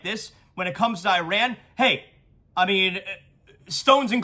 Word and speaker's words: Iran: the Iranian people but you're pronouncing our country's name wrong a country is named Iran not Iran please once and for all let's get this